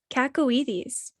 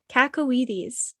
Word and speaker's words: cacoethes: Kacowites. What? Kakaw Kakawites. Bless you. It's spelled uh c a c o e t h e s and it means an irresistible desire or urge to do something inadvisable.